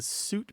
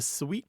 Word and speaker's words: suite: the other thing is the sweet pronunciation is kind of marked as fancy it's frenchified so if you want